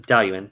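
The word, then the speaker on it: Dalwhinnie: up where did you say oh dale ewan dalian thank you thank you donnie it looks like it's spelled like dow winnie it's about d-a-l-d-a-i-l-u-a-i-n-e that's how i would say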